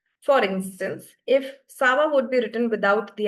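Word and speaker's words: ça va: Uh this accent this accent is used to basically to um the change the sound of C from the hard C sound to a softer S sound. For instance, if Sava would be written without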